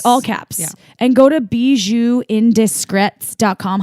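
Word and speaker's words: Bijoux Indiscrets: caps and go to be zoo indiscreet comm how do you spell it in bij o ux i n D is C rets calm yeah it's like bees you like they're they're from Barcelona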